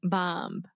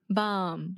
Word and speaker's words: bomb: The B is silent. Bomb. That's true. Okay, bomb. You're still saying a B at the end. Bomb.